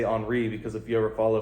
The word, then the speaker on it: Henry: bodia Raja parfumes enri jaac and I say HRI because if you ever follow French football you know it's not Henry Jac it's HRI I don't care they say it it's got